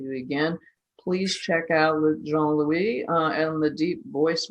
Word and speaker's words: Jean-Louis: yes dot com uh we got he's john louis on linkedin and that's j-e-a-n which is actually